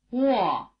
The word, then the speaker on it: Wo: The combination WO or UO is pronounced rather like the beginning of the English word wall.